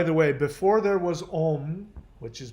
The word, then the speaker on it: om: indra which by the way before there was om which is pronounced ong before there was ong there was and in